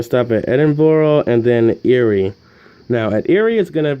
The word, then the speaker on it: Erie: Pittsburgh with Lake Erie Lake Erie actually is it enough every are you are I because I've heard some people in documentaries pronounce it eerie and others now say you are I am pretty sure it's eerie though because people from here pronounce it that way anyway it starts at